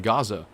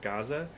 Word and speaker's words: Gaza: So lately I've been hearing some wonderful creators, completely out of respect, attempting to pronounce the word Gaza the same way they've been hearing Arabs and Palestinians pronounce it, which is Gaza.